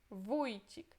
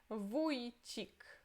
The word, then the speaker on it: Wójcik: É U com crase, mas é como se fosse O com a crase, só que é pronunciado como U, ok? U. Wójcik.